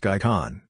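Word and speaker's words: Gaj-Chan: of GAE Dmitrievich GAE sometimes called by poles got Chen pronounced guy Kahn cross the Vistula River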